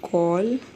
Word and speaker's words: gall: It's called gall. It's not called just like ball होता है वैसे ही gall है. ठीक है, pronunciation same है.